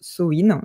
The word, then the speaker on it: Samhain: Ça s'écrit comme ça mais ça se prononce soin.